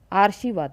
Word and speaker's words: आशीर्वाद: वहाँ लिखा होता है आशीर्वाद लिखा होता है। इसको हम आशीर्वाद बोलेंगे, क्योंकि अभी हमने बात की कि रॉ का उच्चारण जिस वर्ण से पहले आता है रॉ उसी के ऊपर लगता है।